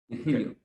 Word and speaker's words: Virgilio: Virgilio.